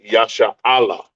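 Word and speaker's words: ישראל: It looks like Yasharala, but it is actually pronounced Yasha'Allah. Yasha'Allah. Yashar Allah.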